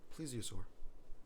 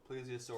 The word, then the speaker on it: plesiosaur: It is pronounced. Plesiosaur. Huh? Plesiosaur. Please what? Plesiosaur. Plesiosaurus.